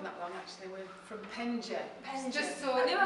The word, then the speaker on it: Penge: We've not been open that long actually, we're from Penge. Just so I knew I hadn't pronounce got it right.